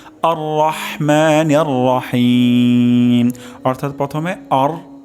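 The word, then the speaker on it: الرحمن الرحيم: আরেকটা আওয়াজ তেলাওয়াত করছি আর রহমানির রাহিম আর রহমানির রাহিম অর্থাৎ প্রথমে আর র আর মোটা মোটা হবে হা গলার মাঝখান থেকে উচ্চারণ হবে আর মা এখানে র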